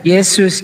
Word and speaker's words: Yesus: Bahasa Belanda huruf J dibacanya Y. Jadi Yesus dibacanya Yesus. Ini sejarahnya nih ya. Udah tampak kan mana yang lebih dekat. Kalau orang bilang Yesus tidak sama dengan Isa